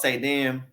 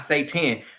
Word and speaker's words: saidin: Like he pretty much calls Saidin, not Satan, Saidin. Let me say it like that, Saidin.